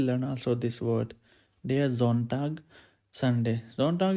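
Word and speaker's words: Sonntag: word we will learn also this word their zone tag sunday don't talk it's also a name in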